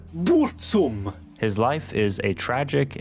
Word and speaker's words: Burzum: a handful of records under the name Burzum, or as he pronounces it, Burzum.